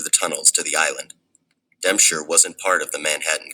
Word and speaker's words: Dempscher: But John Dempscher, pronounced John Dempscher, was never a guy to seek attention.